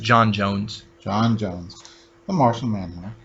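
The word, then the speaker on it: J'onn J'onzz: So sometimes it's said Jean, but it's just John Jones.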